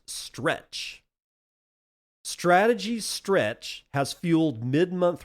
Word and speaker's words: STRC: Bitcoin treasury firm Strategies Preferred Shares, STRC, pronounced stretch.